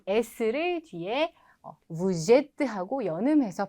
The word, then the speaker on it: Vous êtes: Vous êtes. Vous êtes. 한 번 더. 당신은 이다. Vous êtes. Vous êtes. 자, 여기 발음 들으셨을 때 뭔가 특이한 거 느끼셨나요?